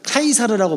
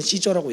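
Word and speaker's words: Caesar: 율리어스 시저 이후에 카이사르라고 보통 얘기해요. 근데 영어식 발음으로는 시저라고 얘기하죠.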